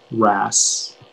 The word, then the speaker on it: wrasse: uh it's from cornish are there any alternate pronunciations uh this is just the one ras rash am i pronouncing